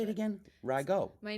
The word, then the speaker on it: Rago: Rago. Rago.